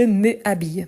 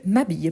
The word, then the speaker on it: m'habille: a le S apostrophe donc je m'habille on ne dit pas je me habille mais je m'habille pourquoi si la règle